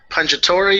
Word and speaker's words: Pungitore: Is it John Pungitore? Is that how you pronounce it? Yeah, you just said my name perfectly on your first try, man.